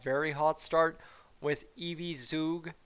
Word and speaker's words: Zug: hot start with evie zug i believe zook is how i was told to pronounce it back on instagram comment